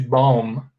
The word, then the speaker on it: bomb: the pronunciation we say bomb the b here is silent quirky professor prickett and